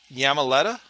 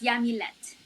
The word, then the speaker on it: Yamilette: you say your name is it yamaleta so it's yamilette so yummy okay and